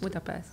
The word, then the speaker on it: Budapest: family together and uh it was it in Budapest Budapest yeah I grew up in Budapest how do you pronounce it the right way cuz I know